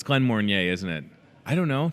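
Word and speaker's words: Glenmorangie: Glen Morgany. Doesn't that look like Morgany? Glen Mornier. Is that what it is? It's Glen Mornier, isn't it?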